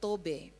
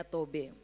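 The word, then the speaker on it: טוב: kata baik di situ bahasa Ibrani bilang tobe tulisannya t o b bacanya tobe Nah apakah tobe atau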